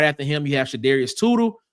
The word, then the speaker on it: Shadarius: Then right after him, you have Shadarius Tootle. Spelled his name wrong. That should be SH, not Sudarius. That's Shadarius.